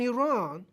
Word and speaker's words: Iran: at the same time or even Russia and Iran if I was the king of the day